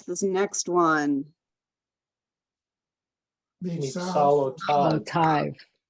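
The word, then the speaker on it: תו: Solo tav. Tive or tav? Tav. Tav, exactly. Tav.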